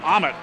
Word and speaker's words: Ahmet: And Ahmet is good. Ahmet is how the young lady pronounces her name, so that's how I'll pronounce it.